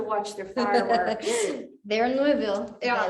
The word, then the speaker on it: Louisville: So there's a, well, I will talk about the APA in a little bit, but Thunder over Louisville is Louisville. That's how they say it there, Louisville.